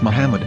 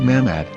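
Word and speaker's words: מחמד: after the H according to Ben yehuda's Hebrew English dictionary it is correctly pronounced as Muhammad not mmad so how we're going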